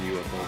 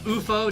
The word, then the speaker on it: UFO: So wasn't that pronounced UFO? Didn't they pronounce that UFO? And it was pronounced UFO, but I never knew that until like 2 or 3 years ago.